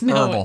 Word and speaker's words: herbal: yeah I think it's herbal H well there but you don't pronounce it I bet you the